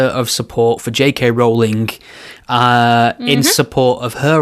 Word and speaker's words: Rowling: Rowling. Expectus pronuncius.